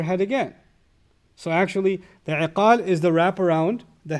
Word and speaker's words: iqal: They call it igal now, but iqal is the proper pronunciation.